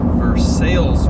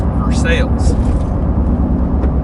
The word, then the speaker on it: Versailles: going to be called versailles road if you were from outside of lexington you would say versailles but here in kentucky versailles is pronounced for sales just part of being